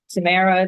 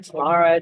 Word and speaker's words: Tamara: that you're not like struggling with how to pronounce it so Tamara Tamara Tamara I answer to them all so you're fine